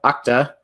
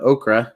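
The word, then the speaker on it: Okta: I work for a company called octa my dad calls it okra so feel free to mispronounce it but octa the word actually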